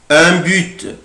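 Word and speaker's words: en but: ان بوت ان بوت بوت هدف او جول. ممكن منطقش لا لتر تي حرف التي ممكن منطقوش، اقولها ان بو ان بو ان بو او بوت.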